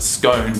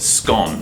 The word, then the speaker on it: scone: we call a scone, except we don't pronounce it scone, we can pronounce it scone. Well, we actually spell it the same, S-C-O-N-E, but it sounds like S-C-O-N, scone. Think Tron.